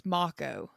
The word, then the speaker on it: Mako: We have M uh Mako MCO. It's Yeah, it's spelled like Mo, but it's MCO.